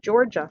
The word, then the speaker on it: Georgia: did you hear that it's the soft g sound georgia like giraffe so capital g comes